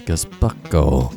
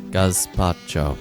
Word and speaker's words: gazpacho: How do you pronounce Gazbucko? Gazpacho. Well, clearly the Spanish are saying it wrong.